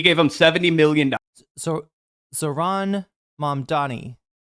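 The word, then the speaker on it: Zohran: Yeah, I think he named it for the election season, but then he couldn't get them to Zoran. Oh, Zoran. So it's like Zoran. I feel like everybody's mispronouncing it then.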